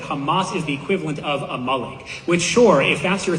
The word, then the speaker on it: Amalek: It's not Amalik. It's a malik.